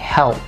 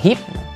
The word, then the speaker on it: help: Sau đó là L. Đọc chữ E xong bạn sẽ cong lưỡi chữ L lên, nói tạo thành âm L.